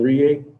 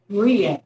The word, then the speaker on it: Rie: Tell us your name and your DSC number. Alan Rie, 461092. Rie, I'm sorry, I mispronounced it. Mr. Rie